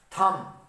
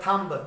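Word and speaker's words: thumb: तो आप कहेंगे सर ये तो लफ्ज बन गया थंब। नहीं, थंब लफ्ज कभी नहीं होता। जो लफ्ज होता है उसको आप साउंड को अगर देखें तो ये मेरे पास लफ्ज बना है थम, ठीक है।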